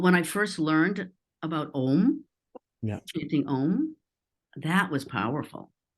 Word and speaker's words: Om: some people in my audience don't know what Om means? Can Right. you explain it a little bit? Yeah, as best I can. It's Om, om. It's a three-syllable Om.